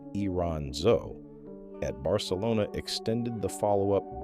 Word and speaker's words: Iranzo: Then Alex Iranzo, pronounced Iranzo, at Barcelona extended the follow-up beyond a decade, and the conversion rate climbed above 80%.